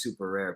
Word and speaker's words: Superare: chat's actually italian he he did the double r because it's pronounced super rare but it's which obviously